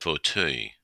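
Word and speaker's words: fauteuil: had pronounce this one, but the proper pronunciation, the way I pronounce it is fautuil, but I think the proper pronunciation is a little bit more English than that, English-sounding. Let me listen to it. Fautuil. Fautuil. Yeah. Fautuil. So, the eui French vowel just trips everyone up, even as a speaker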